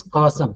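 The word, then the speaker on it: chasm: This cosm, CHA is ka, not cha, like chair, cosm, like choir.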